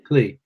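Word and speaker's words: Kleeh: Is it Klee or Clay? Klee. Klee. K-L-L or K-L-E-E-H, I think it is.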